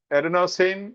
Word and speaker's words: adenosine: Now coming to option A, the effectiveness of adenosine as a sedative. Am I right pronouncing it?